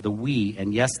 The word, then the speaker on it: Wii: by Nintendo called the Wii and yes that is spelled wi I but pronounced we you know up until